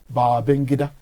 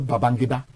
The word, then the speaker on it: Babangida: If you pronounce it properly, it's Babangida, not Babangida. Babangida.